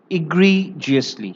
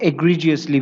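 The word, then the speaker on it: egregiously: उसके बाद जो नेक्स्ट वर्ड है वो है इग्रीजियसली, या फिर कहीं कहीं इसे एग्रीजियसली भी कहा जाता है। तो यहाँ पे प्रोनाउंसिएशन आप देखेंगे, दैट इज इग्रीजियसली। इग्रीजियसली ये एक नया वर्ड आपको मिला हुआ है।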